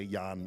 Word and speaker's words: Jan: get you get Jan I'm going to call him Jan I know he's not pronounced that way in Zeno Saga 2 but I it's hard for me to say Yan instead of Jan so I'm going to